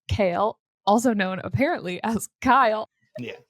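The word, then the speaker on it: Chaol: throw that in there ky ky I've been saying K is sort of pronounced like chaos with an l so if that helps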